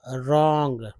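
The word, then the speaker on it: wrong: है, went रॉन्ग, रॉन्ग, डब्लू को देखिए, डब्लू जो है साइलेंट रहेगा, और र को पढ़ेंगे, और ओ को औ पढ़ेंगे, औ, ठीक है, ये वाला औ, तो ये रॉ, ये ग, रॉन्ग, with in, way, with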